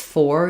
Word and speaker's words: for: And then in the word "for," the letters OR do say "or." If I say it's "for you," that's correct pronunciation, it's natural. But this is another place where we typically reduce, and instead of saying "those will work for me," we tend to say "those will work for me," work for. So my "or" becomes an sound again, and so I'm having